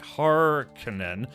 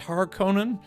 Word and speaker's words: Harkonnen: of like it maybe a little better pronounced Harkonnen, like Hard Conan, but, I read it like a Finnish surname, like, Raikkonen, like Kimi Raikkonen, right, exactly.